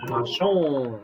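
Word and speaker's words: marchons: مارشون مارشون حرف النون ده تخنفي فيه الفو هيبقى اخرها اخرها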